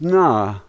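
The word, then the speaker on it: на: Here we have what looks like a letter H, and that is the N sound. A is pronounced A, and so this word is na, na.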